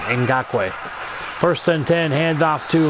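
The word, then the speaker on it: Ngakoue: and in got quake so I apologize electric pronunciation in got way first and ten handoff to Leonard fournette 19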